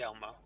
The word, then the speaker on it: Hjalmar: How do you want to pronounce Hjalmar. it? Hjalmar.